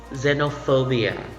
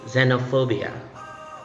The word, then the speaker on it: xenophobia: plural just a species okay next word is xenophobia xenophobia if you would notice the spelling has letter x in it but surprisingly in the transcription the letter x in the spelling should be pronounced you say xenophobia xenophobia xenophobia is the fear of if okay